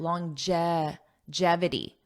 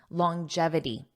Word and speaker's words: longevity: let's talk about longevity notice that pronunciation long it has a j sound longevity jevity longevity longevity this means lasting for